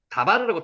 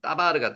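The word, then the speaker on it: דָּבָר: 다바르라고 읽는데 여기 경강점이 있어가지고 쌍디귿으로 발음이 됩니다. 그래서 따바르보다는 따바르를 소리 나는 게 더 정확한 발음입니다. 다바르라고 틀린 겁니다. 따바르라고 소리 나는 대로 읽으면 따바르가 됩니다.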